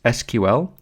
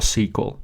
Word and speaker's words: SQL: structured query language and this is pronounced as SQL or sequel depending on your preference queries can be executed